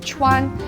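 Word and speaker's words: 串: It's pronounced chuan, and it looks just like a kebab.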